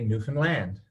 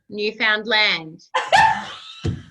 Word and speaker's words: Newfoundland: say it Linda listen say the word understand understand now say Newfoundland Newfoundland oh okay you try